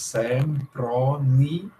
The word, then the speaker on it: Sempronia: Em latim, isso não é um ditongo, isso é um hiato. Aqui tem 1, 2, 3, 4 sílabas. Sempronia.